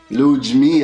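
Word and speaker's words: Ludmilla: okay I didn't say Ludmila yes you did much how'd it lose that's how they pronounce it in Brazil lose me Antonia yes I'll get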